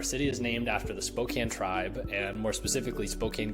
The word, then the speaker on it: Spokane: So the proper way to pronounce our city's name is Spokane. I'm sure you've been saying Spokane because that would make a lot of sense with how grammar works, but alas, it is Spokane.